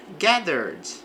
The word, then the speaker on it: gathered: A large crowd gathered for the concert. Então, uma grande multidão, crowd gathered. Aqui o verbo está no passado, não pronuncia o e aqui do verbo.